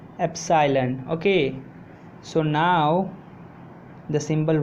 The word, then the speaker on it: epsilon: So hello, I got that cursive capital E is pronounced as epsilon.